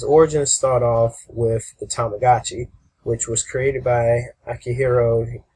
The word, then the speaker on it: Tamagotchi: And pretty much it would be Tamagotchi, which would be, Tamago watch. They added the I sound later on when they started pronouncing it, to make it a little bit easier.